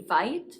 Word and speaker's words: Veit: My name is Veit, rhymes with might.